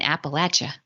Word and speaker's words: Appalachia: did Appalachia so so you and Tenya taught me how to say this in case anybody's wondering why I'm going back and forth from Appalachia to Appalachia is you said imagine yourself throwing an Appalachia so right so so